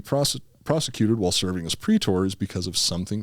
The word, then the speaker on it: praetor: the end so a prey tour doesn't uh it's actually pre-tour right the way that it's spelled is p-r-a-e-t-o-r but it's pronounced pre-tour instead of pre-tour so